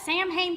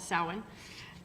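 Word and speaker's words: Samhain: say is that that Sam ha thing that's coming up it's not samh it is a Celtic word and it is pronounced several different ways but we I call it sin um and it's a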